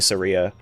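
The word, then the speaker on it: Saria: I thought it was pronounced Sarah, not Sara. Um, some people say Sara, some people say Seria, but it is spelled S A R I A.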